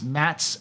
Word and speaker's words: Matze: So it's Mats, and just like it's spelled there, MATZE, Blue Eye.